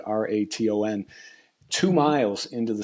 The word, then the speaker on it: Raton: in a town called Raton, I think is how you pronounce it, Raton, two Hmm.